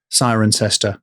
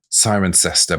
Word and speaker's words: Cirencester: Apart from the fact that it's spelled with C's that are pronounced as sir. Sirencester. Sirencester.